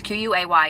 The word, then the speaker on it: Quay: brand is spell ki I always said Quay but somebody corrected me and said I said it wrong I just don't remember how to say it but it's qay and it's the desi